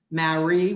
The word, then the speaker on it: Marie: This is my grandmother, Marie, which was a French pronunciation, Marie Gruber Dandridge, and she was born here in 1882 and died in 1983.